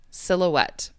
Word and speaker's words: silhouette: Pronunciation. So the word you typed in chat, that's silhouette. Silhouette.